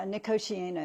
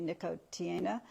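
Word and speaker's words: Nicotiana: genus the genus uh nikosi is the way I pronounce it some other people pronounce it differently niiko Tiana and it's assumed that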